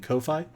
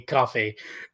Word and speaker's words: Ko-fi: people a cup of coffee. I think it's called coffee. I have always pronounced that thing Ko-Fi.